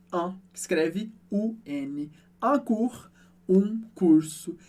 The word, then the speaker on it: cours: Un cours, um curso. E no final dessa palavra a gente tem o som do R do francês, que a gente pronuncia.